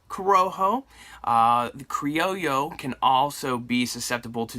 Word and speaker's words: Criollo: can't forget that now Criollo a lot of people pronounce that wrong spelled c RI o ll o pronounce Criollo almost like a plane with a yo yo creo yo so um one of